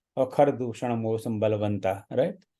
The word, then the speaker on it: दूषण: और खर दूषण मौसम बलवंता, राइट, तो वहाँ वो दूषण है, दूखण नहीं है।